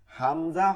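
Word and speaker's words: همزة: হামজা হরফের উচ্চারণ কি হবে, পার্থক্য হচ্ছে শক্ত এবং ওই গোল হায়ের মতন গম্ভীর আওয়াজ, শক্ত এবং গম্ভীর আওয়াজ।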